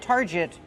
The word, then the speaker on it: target: how do we pronounce Target use the r sound like car and far Tar Plus the hard GG sound Target not Target it's Target this is a Target